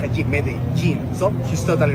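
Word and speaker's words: Medellín: J in which we when we have two L's together, we pronounce it as G. It happens with pojo. It's not pojo. It happens also with medin. So it's not medalene.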